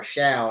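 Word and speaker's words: Shough: producer producer shout out AI says the battle will be between Tyler Sha or Shia actually is how they pronounce it on air and Spencer Rattler with Spencer Rattler holding a slight lead.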